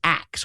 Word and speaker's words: ask: In fact, it is older than the modern pronunciation of ask.